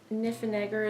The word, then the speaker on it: Niffenegger: It is The Time Traveler's Wife by Audrey, I think Niffenegger is the way you pronounce her last name.